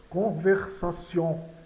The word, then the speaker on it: conversation: Aqui nós temos o tion, o T, né, no final. O T tem som de C antes das sílabas IO, IA e E. Né? Então aqui está antes de IO, tem som de C. Então fica conversation.